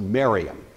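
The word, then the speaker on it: Mariamne: by the name of Mariam spelled something like Mary Omni but it's usually pronounced maram Mariam was a haonan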